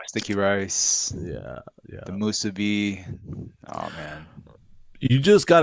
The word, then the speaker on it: musubi: musubi.